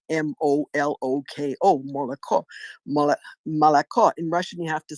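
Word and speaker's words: молоко: is spelled m-o-l-o-k-o Moloko Malacca in Russian you have to say you only say a true o on the last accented syllable now in Ukrainian my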